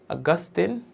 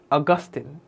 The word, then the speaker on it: Augustine: Not Augustine, not Augustine, Augustine.